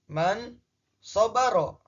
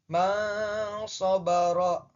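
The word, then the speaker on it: مَنْ صَبَرَ: Man shobaro. Nah, ketika dibaca menggunakan hukum ikhfa nun matinya dibaca samar, jadi bacanya man shobaro.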